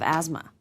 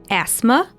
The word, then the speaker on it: asthma: my fault you have asthma there are two ways to pronounce this word with an S and z sound asthma and asthma asthma is